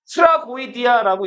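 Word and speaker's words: τραγῳδία: 비극은 트라고이디아라고 읽는데 트라스와 아이오디아라는 말의 합성어인데 트라스가 뭘까요?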